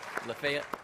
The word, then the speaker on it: Lafayette: corporation in lafayette georgia you say that right lafayette did i say it right excellent okay swings